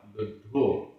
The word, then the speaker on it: लुद्धो: मंस, मंस, love, लुद्धो, लुद्धो, आधा द ध, लुद्धो।